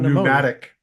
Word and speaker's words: pneumatic: I remember it but sometimes things that are pronounced with an N actually start with a P like oh like pneumatic yeah pneumatic Grove Guardian